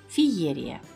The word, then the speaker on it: Феерия: пишется правильно через е ударение падает на второй слог Феерия Как правильно знаете ли